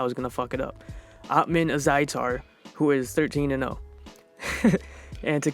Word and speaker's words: Ottman Azaitar: Ottman Azaitar, who is 13-0.